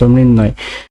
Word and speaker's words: মৃন্ময়: তারপরে রয়েছে মৃন্ময়, মৃন্ময় বানানে, মৃন্ময় বানানটিতে রয়েছে ময়রিকার দন্ত নয় হসন্ত ম অন্তস্তয় হসন্ত, মৃন্ময়। তারপরে শাশ্বত, শাশ্বত বানানটিতে প্রমিত উচ্চারণ রয়েছে তালেবর সয়াকার তালেবর শয় হসন্ত তালেবর স তওকার, শাশ্বত।